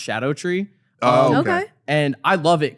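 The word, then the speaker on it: Scadutree: like it's called scattered tree but it's apparently pronounced Shadow tree okay and I love it cuz you have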